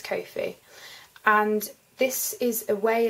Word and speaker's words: Ko-fi: I think that's how I pronounce it. It's either Coffee or Ko-fi, but I think it's Ko-fi.